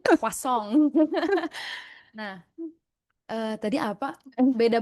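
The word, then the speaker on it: croissant: Bacanya crossong gitu ya. Bacanya kasong.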